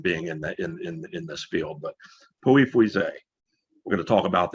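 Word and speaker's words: Pouilly-Fuissé: But I've been taught to say Pouilly, no pronunciation of the L's, and Fuisset.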